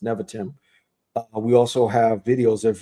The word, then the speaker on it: Nevatim: Nevatim. That's how it's pronounced. Nevatim.